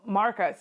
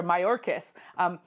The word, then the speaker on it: Mayorkas: Homeland Security, and there with Alejandro Marcos, what we have there is him, I should say, I might have said his name wrong, is Alejandro Mayorkas.